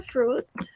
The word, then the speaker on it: fruit: En inglés, cuando tenemos una palabra como fruits que tiene una U y una I, esa U y esa I se pronuncian como una, bueno, se pronuncia solamente la U.